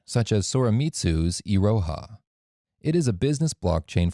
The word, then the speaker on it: Iroha: do not get the same value hyper ledger Iroha was initially contributed by saw remit su NTT DATA and colu it is pronounced as Iroha next we come to sawtooth